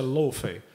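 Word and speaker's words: Laufey: E se escreve Lofey, mas se pronuncia Lofey.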